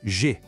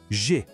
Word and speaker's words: je: A primeira palavra é G. O som é um pouquinho diferente. Faz um bico como se fosse falar U, mas tenta soltar um som de E. G.